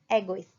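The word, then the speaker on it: égoïste: First one is egoist. A is grave accent and trema, तो दोनों को हम अलग प्रोनाउंस करेंगे।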